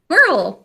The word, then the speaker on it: Quirrell: Quirrell. There was a quarrel between Quirrell and Harry at some point.